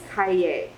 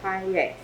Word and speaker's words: kaye: So the way that you say Manzanita, the tree, in Pomo is kaye. So phonetically speaking, an AY says I, and an E says A. So kaye is how you say Manzanita in Pomo.